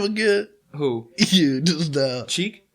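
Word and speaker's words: Cheick Kongo: Cheek? Cheat Congo? Like butt cheek Congo. Butt cheek Congo. I always thought it was check. Cheek.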